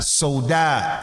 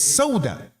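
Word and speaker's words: Sawda: he mentioned her name, I called her Soda. That's how I pronounced it. I said, the sheikh, he mentioned that the wife of the Prophet sallallahu alaihi wasallam, Soda. And he said, not Soda, it's Soda. Soda means black.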